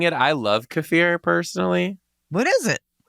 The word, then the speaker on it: kefir: saying it I love cafir personally what is it some people call it kefir but they're actually pronouncing it wrong don't shoot the messenger